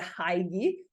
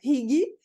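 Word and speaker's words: hygge: essa expressão indem dinamarquês que se escreve H Y GGE que eu achava que era heig e eu falei com uma amiga minha que ela falou que ela lia hig e no audiobook eu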